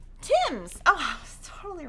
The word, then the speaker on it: Thames: bundle of american gatherings thames is produced is pronounced tim's tim's oh i was totally wrong can we get